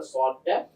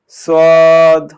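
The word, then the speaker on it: ص: এই জন্য আওয়াজটাকে মোটা করে করতে হবে, যাতে করে সদটা স্পষ্টভাবে পার্থক্য থাকে সিনের সাথে। তারপরে বলো সদ হ্যাঁ, সদটা আরেকটু মোটা করে বলতে হবে, সদ।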